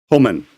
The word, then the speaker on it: Homan: I think Dorito or somebody dropped in how it's pronounced. What's his name? Homan.